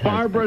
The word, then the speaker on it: Barbra: ronald reagan is played by james brolin that's barbara streisand's barbra streisand's husband another nice man he is right